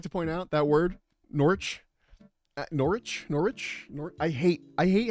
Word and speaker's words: Norwich: It is two syllables. You just say it wrong. What? How can it be? Well, then why is it in Norwich? That's That's two syllables. Norwich is I guess two, but there's a W there.